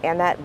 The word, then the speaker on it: Annette: After that, we heard from Annette, it's spelled Annette, but it's pronounced Annette Griswold, who was Alex's paralegal at the PMPED law firm for over 9 years.